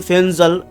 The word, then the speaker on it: Fengal: যাচ্ছে এই গেল গিয়ে ঘূর্ণিঝড় ফেঙ্গাল বা অনেকে বলছে ফেনজাল actually F ই এন জি এল সেই অনুযায়ী বাংলায় ফেঙ্গালি হয় কিন্তু সৌদি আরবের দেওয়া নাম তো উচ্চারণের ক্ষেত্রে হয়তো প টা আসতে পারে পিঙ্গাল বা পেন্জল এরকম সেটা পরবর্তী সময়